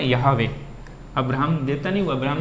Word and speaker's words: Yahweh: और अभी मैं लिखवा भी दूँगा उसमें, ये स्पेलिंग इंग्लिश में ही होगी YAHWEH, W कैपिटल बना देते हैं वो लोग, ठीक। यहावे बोलते हैं।